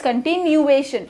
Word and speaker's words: continuation: CON different, then TI different, then NU again different, then A is continuation, A अलग से बोला जा रहा है, and then TION which is shun. So continuation is the right pronunciation of the spelling, CONTINUATION.